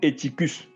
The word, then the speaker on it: Eutychus: Ou Eutychus, selon la prononciation de chacun.